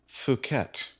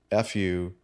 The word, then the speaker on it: Phuket: You quite understandably pronounced it as FU-KET.